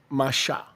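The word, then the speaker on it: Moshe: Before the rabbis arrived, that's actually the correct way to say it. Isso foi antes dos rabinos chegarem, essa é a maneira correta de dizer. Masha.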